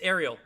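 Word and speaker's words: Arial: all font names yeah that's king ariel it's ariel yeah yeah he just doesn't know how to pronounce it because he's never heard it before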